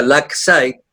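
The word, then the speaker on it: Lakeside: Se escribe Laqueside con K, Laqueside, se pronuncia Laxide, y que esta era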